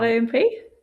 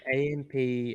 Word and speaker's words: AMP: because you mentioned um well you pronounce it as amp which i don't blame you kelsey you're not a developer you're not in the space but it's not omp it's amp um because amp i